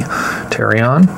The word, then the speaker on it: pterion: And this right here is known as pterion. Spelled with a P, pterion.